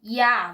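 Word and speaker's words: ja: O J tem som de I, que não é uma coisa muito difícil de se falar. Por exemplo, na palavra, a palavra sim, ya, você não fala já, você fala.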